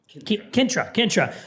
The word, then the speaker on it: Kintra: What we're trying right now is the, tell me if I'm pronouncing this incorrectly, Kintra? Kintra. So this is a bourbon. Gallic for country or countryside.